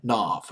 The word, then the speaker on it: Knopf: and burnt and Brent Brent Knopf I believe is he pronounces last night like Mark Knopfler dire straits Britain off